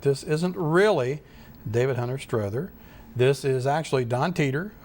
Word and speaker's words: Strother: the same and have settled on the pronunciation Strether because I consulted with hunter lesser who is quite the expert on the first campaign in the Civil War and has personal acquaintance with some of the descendants and I'm copying the pronunciation from what he said the family members had used I first discovered the